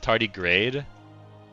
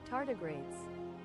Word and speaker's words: tardigrades: Oh, is it tardy grade? Uh, am I not saying it right? Pronunciation. Tardigrades. Yeah, tardigrades. Okay.